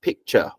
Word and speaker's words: picture: T-U-R-E, the T is pronounced as ch. Okay, so listen carefully, yeah? It's picture, culture, adventure, nature, feature.